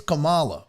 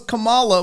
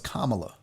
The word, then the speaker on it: Kamala: to point out that the whole chat was like it's kamala and now that i knew that i knew because i used to think it was kamala which is the ugandan giant but that's not it but it's also not camel it's kamala not cam that's the texan in